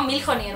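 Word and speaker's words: Mjolnir: que nunca sé pronunciarlo mil jir Cómo se escribe así no milier o algo así escribe m j o L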